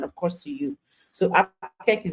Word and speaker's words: APQEC: The acronym is pronounced APQEC. Okay, and but why APQEC?